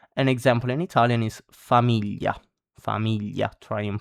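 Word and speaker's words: famiglia: An example in Italian is familia. Familia. Try and pronounce it as many times as you can.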